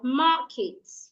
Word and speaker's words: market: or an adjective, you should stress the first syllable. So say, for example, if I have the word market, people will say markets.